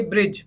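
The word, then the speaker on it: bridge: का मतलब होता है लेख जोखा फोर्थ देखिए ब्रिज बी आर आई दी के साइलेंट कर दिया इससे पहले का तो क्या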